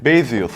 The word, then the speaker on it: Baseus: Baseus nasıl okunuyordu bakmıştım ben ya. Basues evet öyle okunuyordu.